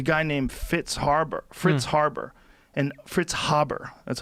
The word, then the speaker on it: Fritz Haber: There's a guy named Fritz Haber, and Fritz Haber, that's how you say it.